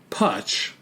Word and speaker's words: Putch: I remember when I was driving Putch, rhymes with Dutch, back from a Spirit Lake family union because he got all crippled up in a fossil hole.